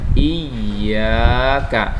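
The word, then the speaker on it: إِيَّاكَ: Biasanya banyak anak-anak yang salah membacanya surah Al-Fatihah ini di ayat yang kelima biasanya. Iyyaka. Nah, ini dipanjangin iyanya, bacanya agak dipanjangkan, dilamakan bacanya. Iyyaka.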